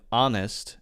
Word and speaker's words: honest: pronunciation but for example both British people and Americans say our and honest they don't in England